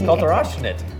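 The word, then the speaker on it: Kalter Aufschnitt: Kalterofschnitt. Kalterofschnitt. It's a German name. Okay, Kalterofschnitt. Oh, you're saying Did I say it right? good. Kalterofschnitt. I think you're the first person who has complimented my pronunciation.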